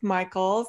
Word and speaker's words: Michaelis: Michaels. It's pronounced different than it looks. All right. Michael with an S, Michaels.